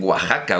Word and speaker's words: Oaxaca: se dice Texas o qué pasa con Oaxaca que es Oaxaca y allí dicen Oaxaca Bueno pues efectivamente nosotros